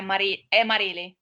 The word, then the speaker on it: Marili: Vamos lá, primeiro eu queria saber se eu estou pronunciando o seu nome correto. É Marília mesmo? Isso, é Marília.